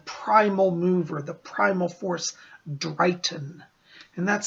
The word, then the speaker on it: Dryghtyn: And many of the old Wiccans called the primal mover, the primal force, Drayton. And that's spelled D-R-Y-G-H-T-Y-N. I'll put it up here. Drayton.